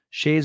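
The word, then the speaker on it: Skjei: Shea's goal was at the end of a power play. Gail looked at Shea's name, spelled S-K-J-E-I, and she said, "How do you pronounce it?" And I said, Shea.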